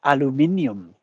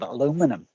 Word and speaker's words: aluminium: it's made of well as you would say it's made of aluminium yes it's made of aluminium instead of aluminum uh I actually up